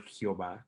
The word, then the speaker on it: Jehová: Yahvé o Yehová, pero se le añade las vocales para que se pueda pronunciar como el Jehová, como Jehová, y ese Jehová es